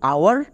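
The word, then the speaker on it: hour: আবার দুটো এক্সাম্পল দেখো, যেমন আওয়ার, হানি। দুটোই ওয়ার্ডে এইচ আছে, তাহলে এইচ কোথায় সাইলেন্ট? এর উচ্চারণটা হয়েছে আওয়ার। এখানে কিন্তু এইচ এর উচ্চারণ হয়নি।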